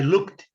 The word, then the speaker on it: looked: I looked. A pronúncia é looked. Não é looked, não. Looked. Esse ele é silencioso também.